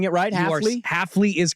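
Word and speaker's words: Hafley: for the updates am I saying it rightley Halley is correct okay Jeff Halley was the head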